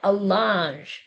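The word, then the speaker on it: allonge: From before the word aposti to the end, but the piece of paper is actually called an allange.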